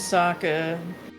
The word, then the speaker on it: Sokka: Name's Sokka. It rhymes with Aka.